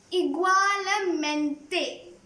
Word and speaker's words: igualmente: Now, igualmente, which means same here. Igualmente, igualmente. It's a big word, but if you keep pronouncing, it's simple.